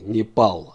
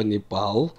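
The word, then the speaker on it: נפאל: это название страны непал обратите внимание как пишется слово непал с буквой а лишь после п если вдруг я не напишу букву алеф тогда мы можем прочитать случайно как на файл на фале то упал или какой-то еще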